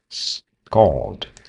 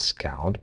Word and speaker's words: scald: Scald scald. Scald. Scald. Scald. Yeah, it's an O. It's a scald. It's not scaled but scaldled. Though the latter accident was